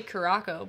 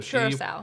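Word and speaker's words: Curaçao: So some people say Curaco, but I think Curaco it's finished. I don't think that's how you say it's Kaylee Cuoco finished. So Curacao.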